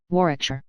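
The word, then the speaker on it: Warwickshire: sellers Vikcount Berkeley of Cole Mandelly Castle Warikshshire pronounced Kubrith Lanover Marshbanks sellers Vikcount Barkley of Chumly Castle Warikshire.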